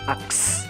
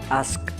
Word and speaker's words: ask: Kedua adalah ask. Kebanyakan dari kita masih membacanya dengan aks, bukan ask.